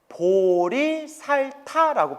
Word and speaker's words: 보리살타: 그래서 보디사트바, 깨달음의 길을 걷는 중생, 보디사트바를 한자로 표기하면 보리살타라고 불러요. 발음을 따서 따라해 보세요.